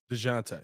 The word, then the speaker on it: Dejounte: Plus so Dejounte, how do you pronounce that man's name? Dejounte.